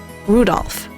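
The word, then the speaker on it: 留弗夫: I'll tell you that that mass of characters is pronounced Rudolph seriously he must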